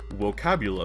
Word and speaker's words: vocabula: always a possibility uh V's are pronounced like W's and G's are always hard so it should be vocabula M tabula omus wi